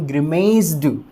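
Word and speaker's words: grimaced: अब ईडी जब हम लगाएंगे तो फिर इसका प्रोनाउंसिएशन ग्रिमेस्ड, ध्यान दीजिएगा, ग्रिमेस्ड, पीछे ड की साउंड नहीं आएगी दोस्तों, यही चीज़ इम्पोर्टेंट है,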